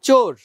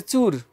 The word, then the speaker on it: চোর: এরপরে শব্দটা হচ্ছে চোর। অনেকে বলে চুর, চুর, সুর আইছে, সুর আইছে। আসলে সুর না, চোর, ও, ঠোঁট গোল হয়ে যাবে, ও।